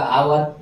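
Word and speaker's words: hour: जाएंगे यानी क्या होगा आवर यानी कि आपको एन लग जाएगा एच ओ यू आर यानी कि एच को यहां से एच साइलेंट रहता है।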